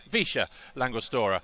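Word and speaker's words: Villa La Angostura: to noiken but outside the town of via langostore or as the locals say visha langustora as you can see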